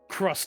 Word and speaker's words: Krust: Crust Stacian. A fine Very, pleasure very to meet you, Crust esteemed. Station. That's spelled Krust.